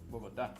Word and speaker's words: Bogotá: The country has 32 departments and 1 capital district for the capital city, Bogota. Diego, did I pronounce that? Bogota. Bogotá.